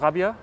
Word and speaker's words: Raabjerg: It's written down Rabjerg, but as you said, it's pronounced Rabia.